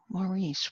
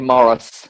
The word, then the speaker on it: Maurice: Laurie Laurie has a question for us Oh Maurice where are you there you are I Laurie hi Mark Henry I'm delighted I'm actually Morris at well I'm already Morris Americans dentists pronounced